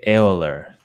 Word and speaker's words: Euler: but it's actually like nobody in Germany would pronounce that way so I don't anyway Oh No wait wait wait say it say how they pronounced they would say eller that's charity learn no